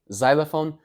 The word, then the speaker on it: xylophone: xylophone. So the X here is just a Z sound.